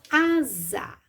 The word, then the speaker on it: asa: escrevo com s k a segunda palavra é asa a Z pronuncio também da mesma forma com o som do Z mas na hora de